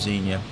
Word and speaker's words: Xenia: Just south of Xenia, Ohio, that's spelled with an X, X-E-N-I-A, there is a great state park there.